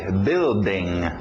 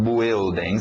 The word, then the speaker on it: building: B-U, mas só o som do E, B, building. Os britânicos ainda falam building, se você quiser. Continua, tenta fazer o building, building, building, com o tempo você vai eliminar o e fica só building, building, ok?